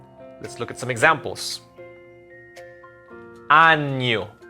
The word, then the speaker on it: año: Año. It's not ano, it's año.